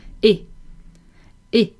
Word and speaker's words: hey: You can use it in French, and it is hey. Hey. Except a lot of French people are not pronouncing the H, so it would be something like eh.